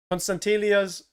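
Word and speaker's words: Konstantelias: I really just want to see Carretzas and Constantelias. Yeah, I've been saying it right. Constantelias playing together, left wing, right wing.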